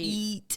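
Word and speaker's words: E-E-A-T: number three eat eat we call it eat it's what is eat it's an algorith not an algorithm an acronym that stands for experience expertise authoritativeness and trustworthiness so it's spelled e e a t experience experience experience yes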